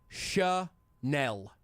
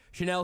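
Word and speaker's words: Chenal: Linebacker Leo, last name, says his last name is pronounced Chanel. Okay, there we go. Finally. Quote, small town, it's a little Chanel. easier to have people get the pronunciation correct. Chanel says with a smile, when you go on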